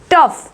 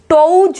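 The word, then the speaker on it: tough: सी the next word टफ, टफ, क्या बोला जा रहा है इसको, टफ, ठीक है। टोज नहीं बोल रहे हैं, टफ बोल रहे हैं।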